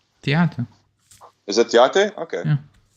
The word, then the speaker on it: Theate: Theate.